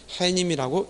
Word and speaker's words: 해님: 따라서 햇님 같은 경우도 우리가 읽을 때 자칫 소리상 니은을 첨가시켜서 햇님 해서 시옷을 받쳐 적으면 틀립니다. 해님이라고 읽어야 된다는 것도 알고 있으면 되겠습니다.